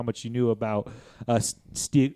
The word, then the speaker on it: Stieg: you knew about uh Stig Stig Larson and his work. And yes, I I checked the pronunciation. It's Stig, like the master marauder in that British television program about middle-aged men explaining